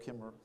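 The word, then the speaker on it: Kemmerer: by the way of Kimmer because he's kind of Southern in a way um I mean Kimmer is actually spelled with another syllable but they don't mention it which is very Southern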